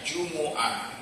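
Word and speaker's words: جمعة: Jumah dibacanya jumuah itu lebih fasihnya. Kalau kita jumah ya sebenarnya jumuah karena di dalam Al-Qur'an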